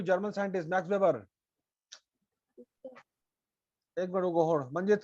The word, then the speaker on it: Weber: तुमको बोल रहे पढ़ने की प्रैक्टिस करो एकदम ठीक से, साफ साफ उच्चारण भी साफ। According to German scientist Max Weber, a वेबर कहाँ पे लिखा हुआ भाई?